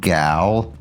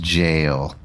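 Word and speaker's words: gaol: a o l spelled gal for the longest time until someone told me it's actually pronounced jail and I was like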